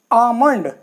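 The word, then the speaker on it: almond: तो एम से पहले आया ये तो ल साइलेंट हो गया पं ऐसे ही कम ऐसे ही आमंड देखिए एम से पहले ल आया है तो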